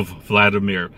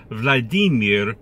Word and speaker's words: Vladimir: No, Vladimir. Vladimir Putin.